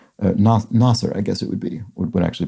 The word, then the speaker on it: Nasir: comment, which is that when you think of it as an Arabic name, it's tough to mispronounce.